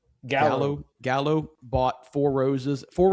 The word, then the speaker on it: Gallo: threw up that an article that is it pronounced Jallow Gallow Gallow bought Four Roses.